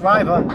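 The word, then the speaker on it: Rivia: R-I-V-I-A. It's pronounced Riva.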